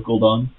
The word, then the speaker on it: Gul'dan: And then we have Skull of Gudan next turn for a big power play. Thank You mispronounced it. It's Skill of Gul'dan.